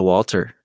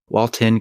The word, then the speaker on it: Walton: it yeah I thought no you've been saying it wrong the whole time I've been saying it wrong yeah you're right it is Walton goggin man do I feel stupid I've been watching Breaking Bad and I think I just like immediately went to Walter because of Walter White